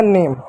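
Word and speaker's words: name: किसी भी शब्द के अंत में इ आए तो इ हमेशा ना साइलेंट होता है। इ को कभी नहीं पढ़ते हैं। तो आपका हो गया नेम।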